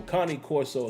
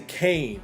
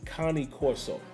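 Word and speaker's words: Cane Corso: 007 few late nights uh underground Kane Corso Connie Corso is how you actually pronounce that dog folks a lot of people say Kane but the actual pronunciation for that dog is Connie Corso uh big head Steve I like that big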